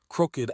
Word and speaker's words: crooked: Crooked adjective crooked. Wretched adjective wretched. These are fossilized pronunciations from Old English.